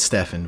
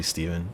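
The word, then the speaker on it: Stephan: My name is Steven, spelled with a PH and an A, so you'd think it was Stefan, but it's actually Steven.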